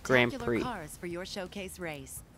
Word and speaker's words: Grand Prix: I mean, I hate's a really strong word, but to be honest, I really dislike when people say, oh, Grand Prix. It's really annoying. Yeah, the X is there, but pronounced Grand Prix.